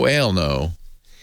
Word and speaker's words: Elno: it, or it was Elno. Yes, I know. I think that's the joke, John. 20. He says, hey, Leo, Elno rhymes with hell no. Really? Oh, hell no. Oh, Elno.